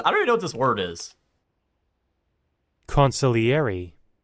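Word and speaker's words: consigliere: Consiliary. Huh? That's how you pronounce that word, huh?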